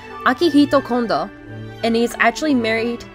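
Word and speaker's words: Akihiko Kondo: In Japan, there is a man, and forgive me if I pronounce his name wrong, but his name is pronounced Akihito Kondo, and he is actually married to Hatsune Miku, with a proper wedding, with 39 guests to be exact.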